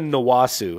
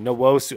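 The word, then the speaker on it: Nwosu: like you know yenna nasu nosu actually nosu I've been told in the comments I've been saying it wrong uchenna naosu looks better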